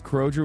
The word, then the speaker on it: Kroger: Aussie, it's Kroger with a hard G.